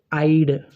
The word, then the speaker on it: I'd: The next one, I had and I would, pronounced in the same way. I had, I would. It's pronounced as I'd. I'd.